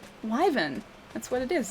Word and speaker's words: Wyvern: There's a Y there. You have to pronounce the Y. Otherwise it's not Wyvern. If it was Wyvern, it'd have to be W-I, not W-Y. That's not the right way to say it.